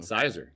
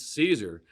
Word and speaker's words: Siser: i kept on seeing sizer sizer and kathleen was with and finally kathleen looking at me she goes it's caesar she goes say it right or don't say it at all so that was like